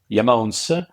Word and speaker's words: IAMONES: from the remote Mon and that's why the pronunciation is yamon and um why that name not just because